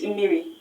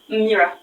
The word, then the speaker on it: mmiri: Because to the Igbo man, the pronunciation for water in Igbo is mmiri. And you just pronounced it as mmira.